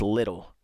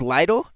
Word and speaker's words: Lidl: Am I pronouncing it correctly, too? People say it's little, but I'm not going to call it little.